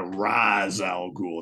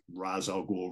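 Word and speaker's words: Ra's al Ghul: and then you know in this film a rise Al ghoul it's like what the hell is it you know it's like whatever um quite a few of the Animated Series have it wrong yeah exactly yeah but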